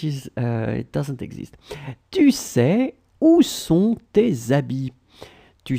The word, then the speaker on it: sais: Okay, final S, not pronounced. Tu sais, and then this où, it's where, okay? Tu sais où sont tes habits, okay?